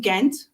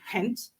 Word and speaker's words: Ghent: anybody who is coming here, once you're in Ghent, and they would pronounce it Hent.